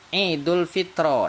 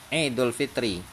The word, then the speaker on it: Idul Fitri: Terus Bapak baca misalnya Idul Fitro. Nah, dia jadi salah itu. Ya, dia jadi salah. Nah, karena apa? Karena huruf ro-nya itu harus bacanya kasroh, Idul Fitri.